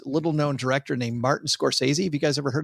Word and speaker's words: Scorsese: known director named Martin Scorsese. Have you guys ever heard of this guy? No. I think you said it wrong. I think Scorsese? Yeah. True film aficionados say Scorsese.